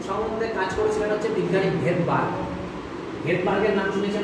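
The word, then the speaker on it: Svedberg: তো রাইবোসোম সম্বন্ধে কাজ করেছিলেন হচ্ছে বিজ্ঞানী ভেদবার্গ। ভেদবার্গের নাম শুনেছেন না? হ্যাঁ, ভেদবার্গের বানানের আগে এস কথাটা আছে, উচ্চারণ হয় না, ওটা সাইলেন্স আছে, তাহলে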